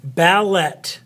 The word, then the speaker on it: ballet: how cool is that the t is often silent in French when it comes at the end